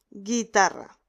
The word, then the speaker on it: guitarra: Para pronunciar guitarra necesitamos añadir una U en el medio, en el centro, y esa U no la vamos a pronunciar, porque no decimos guitarra.